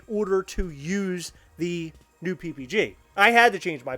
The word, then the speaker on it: PPG: p it's p-e-p-e-g-e-e not people think it's pepe j but it's not it's it's ppg uh your voice snowden